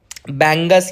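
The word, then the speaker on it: Bangus: this is there is एन बंगस या बांगस जो भी आपको बोलना है बंगू उस बोलना है जो भी बोलना है बस स्पेलिंग याद रखना देयर इज अ बंगस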